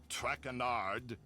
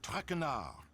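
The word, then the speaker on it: Traquenard: um excuse me monsieur tracquinard please in english i do not wish to hear my native tongue butchered while i eat as for my name not trackanard it is trackner um what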